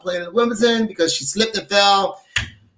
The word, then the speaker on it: Wimbledon: How do you pronounce it? Wimbledon.